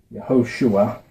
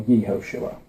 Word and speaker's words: Yehoshua: And it's vowel pointed like this, which is usually pronounced Yehoshua or Yehoshua.